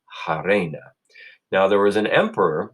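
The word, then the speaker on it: harena: Britain say happy so some Romans instead of honey I would say I Reina that's where we get our word arena because it was filled with hot Reina I like to pronounce my ages in my classes will pronounce our ages will say hey Raina now there was an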